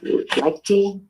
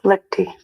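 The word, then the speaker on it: Liechty: Uh, that's to a person by the name of Joseph Lei. Yes. Did I pronounce that correctly? Liy.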